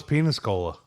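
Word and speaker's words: Peñíscola: Well, which I think was penis cola. It was. Well, that was one Game of Thrones. How do they pronounce it?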